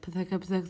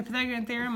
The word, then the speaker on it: Pythagorean theorem: more time Pythagorean theorem I tried to teach one of my kids how to say this a few months ago I don't remember which one is one of my pre AP kids and they were like patek upset so bad thank you guys